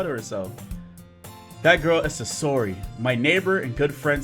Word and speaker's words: Sayori: Hold up, before we start the gameplay, this is editing the way I went back and I saw I say the name wrong. Name is Sayori or Sayori.